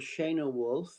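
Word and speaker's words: Schoenewolf: crazy ladies and gentlemen I give you Gerald Shan wolf hello hello thanks for having me on the show uh it's uh it's Gerald Shena wolf or if you wanted to pronounce it in the correct German way it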